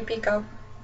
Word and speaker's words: Picoult: It is pronounced Picoult, not Picoult. English teacher, 11th grade, met her.